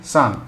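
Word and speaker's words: さん: in Japanese it is how do you say remember we say some right that is son so title of respect added to a name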